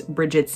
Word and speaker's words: Brigid: and I'm going with the pronunciation of Brigid, as it's the one I've heard the most.